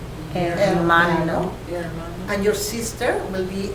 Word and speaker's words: hermano: Let's pronounce it. Mama. Mama. And father will be papa. Papa. Papa. Your brother will be hermano. Hermano.